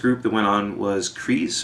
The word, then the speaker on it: Kreise: that went on was kris or krisa which means circle in german it's k-r-e-i-s-e i'm pretty sure it's how it's spelled and they're kind of